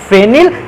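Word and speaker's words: phenyl: ही पढ़ना चाहते हैं फेनिल या इसको पेनाइल बोलते हैं उससे कोई भी प्रॉब्लम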